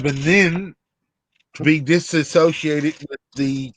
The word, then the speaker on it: Lebanon: Lebanon was named and then they decided to pronounce it leanin to be disassociated with